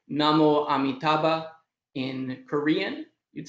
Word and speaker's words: namo amitabha: of amitabha's name so in sanskrit you'd say namo amitabha in korean you'd say